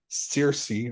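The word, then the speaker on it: Saoirse: um the lead performances of Sam Rockwell and Cersei Ronan that is how you say her name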